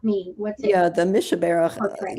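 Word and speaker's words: Mi Shebeirach: And I don't know if I can pronounce this properly, but it's Skabarach. Yeah, it's Mishaberach.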